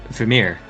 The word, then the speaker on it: Vermeer: What is the Dutch pronunciation? Vermeer. Well, so that's how you should call it.